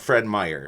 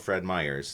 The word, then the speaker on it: Fred Meyer: We say Fred, or it's called Fred Meyer. It's not called Fred Meyer's.